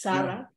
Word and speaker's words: Saray: grandmother uh you asked me how do you pronounce uh um you know my name it's Sarah very much African long story behind that um